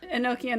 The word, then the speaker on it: Enochian: Enochian is a big thing. Is it Enochian? Yeah. That's how they pronounce it.